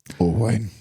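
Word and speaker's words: Owain: but pronounced oine.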